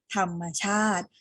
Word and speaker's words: ธรรมชาติ: สำคัญ ที่ ควร อนุรักษ์ คำ ที่ ไม่ ออก เสียง สระ คือ คำ ว่า ธรรมชาติ เรา อ่าน ว่า ธรรมชาติ ไม่ ได้ อ่าน ว่า ธรรมชาติ ใช่ ไหม คะ นะ ออก เสียง ที่ ถูก ต้อง พร้อม กัน ธรรมชาติ อ่าน ทั้ง ประโยค พร้อม